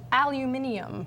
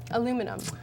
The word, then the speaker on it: aluminium: Another word pronounced very different between US and Australia is aluminium. Aluminium. Aluminum.